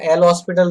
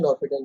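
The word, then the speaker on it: L'Hôpital: लोपिटल rule, है ना, एल हॉस्पिटल rule. School वगैरह सब जगह पर सपोज पढ़ाया गया तो एल हॉस्पिटल रूल से पढ़ाया गया होगा, बट इसका प्रॉपर प्रोनाउंसिएशन होता है लोपिटल रूल।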